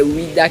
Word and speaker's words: Ouidah: Quand les Français ont voulu prononcer Ouida, ils ont dit Ouida. Et comme nous avons été colonisés par la France, c'est Ouida qui est resté.